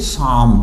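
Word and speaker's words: psalm: तो इसको हम कैसे प्रोनाउंस करेंगे? शाम, यानी पी साइलेंट हो गया, एल साइलेंट हो गया, शाम।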